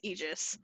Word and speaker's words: Aegis: I've heard it is Aegis. I have too, but I looked it up on the internet and it says Aegis. Aegis. So Aegis it is.